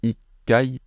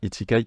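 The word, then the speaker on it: 一階: parler des étages attention il a la Lison qui se fait on va pas tous les faire mais voilà c'est Ikai Ikai non pas iikai Ikai Nikai et cetera vous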